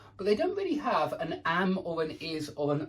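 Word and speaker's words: она: please remember that Anna the stress is on the a I want you from the beginning to be pronouncing this word correctly correctly it's Anna it's notor yeah it's ana ana an Frank an Ivan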